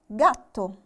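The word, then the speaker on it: gatto: عندي كلمة جاتو. جاتو هتبقى تشي جي دورا ولا جي دولتشي؟ هتبقى جي دورا.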